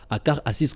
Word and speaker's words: Akar Assis: Moi, je prononce ça, Akar Assis, comme on le prononce là chez nous.